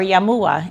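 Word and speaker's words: Jamuła: my main name was Jam EULA or yamoa in Polish as we pronounced it my grandparents came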